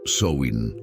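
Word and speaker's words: Samhain: una antigua festividad Celta llamada Sam hain se pronuncia soin los celtas vivían hace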